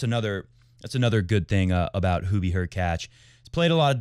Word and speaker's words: Hurkacz: It's not the serve and volley of yore, but Hubie Hurkacz, rhymes with latch, has come to the net more than any other player at Wimbledon.